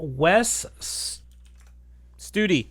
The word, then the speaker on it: Wes Studi: uh the gentleman's name wes studi duty okay west duty like study but studi got it okay wes studi